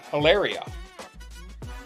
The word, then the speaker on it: Hilaria: But she pronounces it Hilaria.